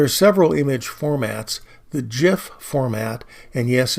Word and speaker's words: GIF: several image formats the GIF format and yes it's pronounced like the brand of peanut butter I know this because